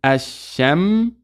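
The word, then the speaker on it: الشمس: So we say asha, mim sukun, ashamsu, ashamsu. So the lam is not pronounced, although it's written.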